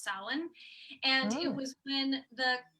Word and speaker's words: Samhain: called salon which it's it looks like it's pronounced samhain but it's pronounced salon and it was when the the celts believed